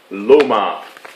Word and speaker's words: LOMO: legendary Russian microphone company Loma it may look like it's spelled Lomo but people who know Russian know otherwise onwarded upward it is